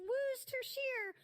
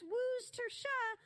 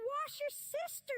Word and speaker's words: Worcestershire: It's pronounced Worcestershire, or sometimes Worcestershire, all depends on where ye are. Now mind you, Where ye are. Oliver Twist would. And remember, it's not wash your sister sauce, even if it does sound a bit cheeky.